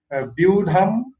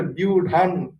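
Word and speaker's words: ব্যূঢ়াং: যেমন ধরেন আপনি যদি দ্বিতীয় শ্লোকটা ধরেন 1.2, সেখানে আছে ধরেন বিউঢাম দ্রুপদ পুত্রেণ, আবার কেউ উচ্চারণ করে বিউঢান দ্রুপদ পুত্রেণ। হ্যাঁ, তো সেক্ষেত্রে আপনারা কোনটাকে সার্টিফাই করেন? যদিও বিউঢানটাকে সবাই আর কি ই করে আর কি, এগ্রি করে এটার সাথে।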